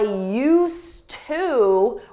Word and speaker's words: used to: now, and for that we need used, with a D. You don't hear it in pronunciation, but it's there in spelling. I used to work at the bank, but now I work at the mall.